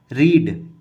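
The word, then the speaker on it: read: अब रीड की सारी फॉर्म सेम होती हैं, प्रोनाउंसिएशन चेंज हो जाता है, कुछ इसे रीड पढ़ते हैं, पर जब थर्ड फॉर्म में होता है तो रेड।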